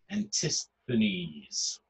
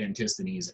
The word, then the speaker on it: Antisthenes: Antisthenes. Okay? Again, that's how you pronounce ancient Greek by each vowel group. Antisthenes.